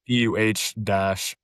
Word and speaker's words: pu'er: I want to say it's like pu'er or something like that. Okay. It's PUH-ERH.